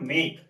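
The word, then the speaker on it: make: अब ई साइलेंट कहां होता है, अंत में ई नहीं बोला जाता। कोई भी शब्द होगा, कोई भी शब्द इंग्लिश का होगा, लास्ट में अगर ई आता तो उसका कोई साउंड नहीं होता। स्पेलिंग में रहेगा लेकिन उसका कोई साउंड नहीं होगा। जैसे यहां पास लेकर मेक, कहीं इसका साउंड आ रहा है, नहीं आ रहा, इसका भी कोई साउंड नहीं आ रहा।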